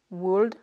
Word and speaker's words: would: On écrit bien avec un L, would, should, could.